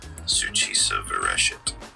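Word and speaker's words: Succisa virescit: members cuz obviously I love them to death SU ofet that's how you pronounce it which it is Latin for that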